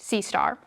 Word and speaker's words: CSTR: The batch, the CSTR pronounced sea star which is basically a mixed or stirred tank reactor and the plug flow reactor PFR model.